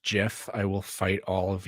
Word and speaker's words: GIF: And yes, it is pronounced GIF.